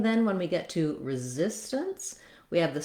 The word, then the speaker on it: resistance: some other words where we don't really say much of a vowel for this letter A. It's almost basically a syllabic end. So that means I just go right from the T, resistance, into that N sound. And that T, resistance, for some reason in this word we make that somewhat of a flap. Maybe that's because we have a little bit resistance. I'll write that as a D for you.